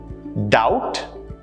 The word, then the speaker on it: doubt: Let's look at a few more examples where the B sound is silent. Doubt, debt, climb, thumb, numb. Notice how the B sound was never a part of the pronunciations for any of these words. You never pronounce these words with the B in it.